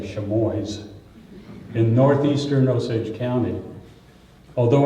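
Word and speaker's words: Chamois: in the small Mid-Missouri town of chamoy or as the locals say sheboys in northeastern Osage County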